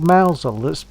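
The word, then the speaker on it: Mousehole: there's a place called Mousel that's written. It's in It's Cromwell. Spelled. It's spelled as mouse hole, but it's pronounced Mousel, and it is a very nice little place in Cornwall.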